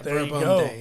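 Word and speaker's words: Verbum Dei: their name right it's it's Latin and it's verbum verbum yeah verb day it means word of God yeah see we we're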